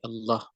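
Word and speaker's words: الله: tadi Sebagian ulama berpendapat lafadz Allah itu asalnya adalah al-ilah kemudian hamzahnya dihilangkan menjadi Allah hamzahnya dihilangkan untuk memudahkan pengucapan jadi dia dibacanya Allah sama Alhamdulillah kalau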